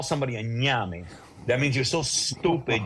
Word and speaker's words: ñame: Ñame. Spell it. Ñame. The N with the accent mark on top, A-M-E, like name, but with the gives you the accent mark.